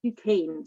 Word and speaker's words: DuQuesne: What I would have, and Skylark Duke, I've been told it's pronounced Duquesne, so I just pronounce it that way now, the name, but that's what someone in Louisiana told me, that's how we pronounce that name.